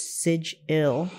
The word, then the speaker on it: sigil: pop magic style the sigil and he puts Siege ill as the pronunciation is the first and one of the